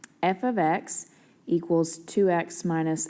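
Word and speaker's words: f(x): So first of all, this right here, if you heard me say that, is pronounced f of x, which you should probably write down.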